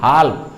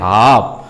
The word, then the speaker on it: half: पढ़ते भी हैं हाल्फ, लेकिन यहाँ वोवेल लेटर के बाद में दो कॉन्सोनेंट लेटर है यल और एफ, तो पहला कॉन्सोनेंट लेटर यल है और वो हो गया साइलेंट लेटर, इसलिए HALF को हम लोग पढ़ते हैं हाफ।